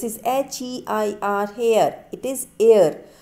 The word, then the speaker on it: heir: हेयर, this is HEIR, हेयर, इट इज़ एयर. So it is H is silent here and the correct pronunciation is air.